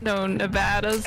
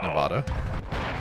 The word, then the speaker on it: Nevada: So no Nevadas out there. It's Nevada. Nevada.